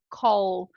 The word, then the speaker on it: call: num u né mas no inglês não vai rolar fazer isso a gente precisa marcar muito bem esse l no final de palavras e sílabas tá Então repete aí comigo Call o último som do verbo Call então é L identificou beleza